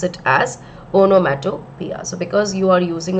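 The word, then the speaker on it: onomatopoeia: onomato Pia okay it's poia but we actually pronounce it as onomia so because you are using a sound word we say that the poetic next poetic device that has been used over here is onomia okay let's just make some space okay the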